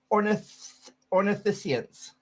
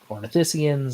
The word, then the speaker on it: ornithischians: I pronounce this right, ornithischians. There's a few ways you can pronounce it. Some people say ornithischians, some say ornithischians. I usually say ornithischians, but there's no real correct way to do it.